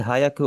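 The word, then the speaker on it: 百: इसीलिए आपने ये वाला इस्तेमाल नहीं करना, आपने इसे बोलना है ह्याकू। इसके बीच में आप देखेंगे ना ए नहीं है, तो आपकी डायरेक्टली आवाज आनी चाहिए ह्याकू।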